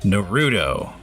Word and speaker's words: Naruto: everybody knows I'm sorry no rudo my dad let me pronounce it correctly for mirka no rudo everybody knows what it